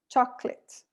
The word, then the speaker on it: chocolate: right and in english how many syllables chocolate chocolate two syllables so the concept of